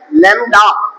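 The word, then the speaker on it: lambda: This is लैम्ब्डा this is लैम्ब्डा actually B silent है लैम्ब्डा तो ये लैम्ब्डा क्या है वेव वेवलेंथ है।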